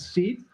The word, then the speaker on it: Seed: I said it wrong in the intro. You corrected me. It's Seed.